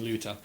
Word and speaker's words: Ryuta: I'm pretty sure that like you don't pronounce the R. Is that right? Yeah, that's right. And it's got a bit of like an L at the beginning, Luta.